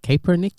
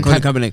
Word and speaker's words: Kaepernick: I can't pronounce his name. Kaepernick.